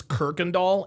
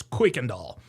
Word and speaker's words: Kuykendall: And by the way, a lot of people pronounce this Kirkendall. It's not pronounced Kirkendall, it's Kuykendall.